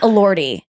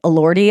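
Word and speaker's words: Elordi: all Lordi he I I pronounced it ordi when I looked him up the first time that is wrong all Lordi I think it is he's so hot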